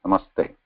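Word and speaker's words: नमस्ते: Namaha te, when combined together as a sandhi, you can pronounce them separately, namaha te. Or if you want to combine them, it becomes sandhi, namas and plus te, namaste.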